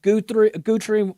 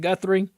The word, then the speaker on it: Guthrie: He's also way uh working with Brett Guri Gutri, however you say it. Guthrie totally butchered that.